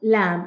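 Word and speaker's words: lamb: क्लाइम, lime, थम, plumber, क्रम, कॉम, लैम। अब यहाँ पे कहीं पे भी बी नहीं बोला जाएगा।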